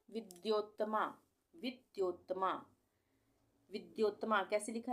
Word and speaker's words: विद्योत्तमा: है ठीक है तो विद्योत्तमा वि आधा द और य पूरा और उसपे ओ की मात्रा फिर आधा त और मा विद्योत्तमा इस तरह से हम इसको पढ़ेंगे और लिखेंगे विश्व सुंदरी